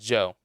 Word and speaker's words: DJO: Basic being basic by I think it's pronounced Joe. DJO, the Joe Curious band.